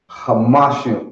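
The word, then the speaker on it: חמישים: Hamashim. Kamashim, right. Always remember to pronounce that ha.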